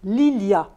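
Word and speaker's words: Lilja: et donc Lilia l I J a se prononce Lilia c'est simple fa aussi oui moi aussi moi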